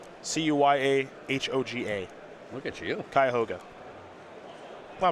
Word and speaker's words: Cuyahoga: the cuyahoga falls area cuyahoga falls that's correct c-u-y-a-h-o-g-a look at you cuyahoga well i'm from northeast